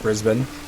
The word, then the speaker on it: Brisbane: Yeah, the first pronunciation is correct. Brisbane.